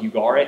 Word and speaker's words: Ugarit: So you may have heard it called Ugarit, but it's, I think it's pronounced Ugarit. At least that's how people that I respect say it.